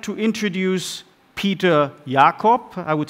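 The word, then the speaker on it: Peter Jakob: would like to introduce Peter Yakov I would say it pronounced it deliberately in German because he's a professor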